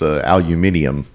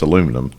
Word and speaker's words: aluminium: It's kind of like the way the British mispronounce aluminium. Aluminium. Yeah, when we know it's aluminum.